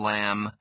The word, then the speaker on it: lamb: Common silent letters. Silent K. No, knife, night, knock, knee. Silent B. Doubt, det, climb, thumb, lamb.